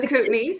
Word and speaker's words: Kootenays: Marie is from Canada, the Kootenays. Say it better for me. The Kootenays, yeah.